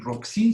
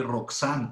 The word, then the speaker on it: Roxin: 3 gonzález claus roxin roxin se pronuncia así como suena rock si no vayan a pronunciar como alguna vez lo escuché roxanne como si fuera francés